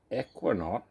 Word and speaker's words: Eukanot: Pronounced Eukanot, this bright orange Indian pale ale showcases our brewer's new favourite hop.